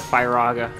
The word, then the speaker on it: Firaga: And that was that some people pronounce Firaga, Firaga. Like fire.